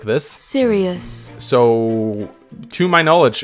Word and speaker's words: Sirius: Sirius. So, to my knowledge, it's Sirius, as in, why so serious?